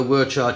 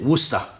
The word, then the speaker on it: Worcestershire: I've heard a lot of you guys go Worcestershire, China, Chichester sauce. You pronounce it Worcester. Worcester sauce, that's it.